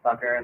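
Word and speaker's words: Cakar: My name is Representative Sucker. That is spelled C A K A R.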